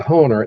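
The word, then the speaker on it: Hoehner: Harold Honer. H O E H N E R. H O E H N E R. Harold Honer.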